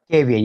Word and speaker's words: Gavian: And is your name pronounced Gavion? Am I saying that right? Gavian, yes, Gavian.